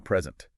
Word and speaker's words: present: what a word means like a classic example present oh yeah like stress the first syllable and it's a gift stress the second and you're giving something to someone exactly the materials also